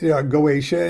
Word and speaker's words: Goetia: freaking want okay uh I started calling it goesha and then people uh uh thought that because I pronounced it that way that must be the correct way to pronounce it so they started pronouncing it that way and uh uh it probably pronounced goitia whatever it is it's a corrupted uh